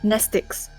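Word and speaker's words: mnestics: I can't pronounce that word. Sorry. Nestic. Just ignore the M. Okay. Nestics. Class W, X, Y, and Z. Same Greek root as the word pneummonic. Same Greek root as the word pneummonic. The M is The M is silent.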